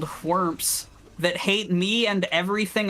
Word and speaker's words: Whormp: this horrible combat arena with these enemies called Whormps that hate me and everything I stand for, to pick up a map and then bounce. We'll see Whormps again.